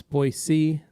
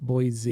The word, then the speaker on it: Boise: out some of these it's pronounced boise and not boise correct dabbler it's boy c not boy z yeah the locals hate it when you do the z thing yep are bug removers